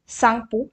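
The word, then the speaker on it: Tsangpo: के नेम के अंदर, क्योंकि टी साइलेंट है और सांगपो यहाँ पे है, तो टी का ध्यान रखना ज़रूरी है।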